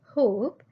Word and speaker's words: hope: And in hope, O sounds like O. Why? Because there is a silent E at the end of the word hope.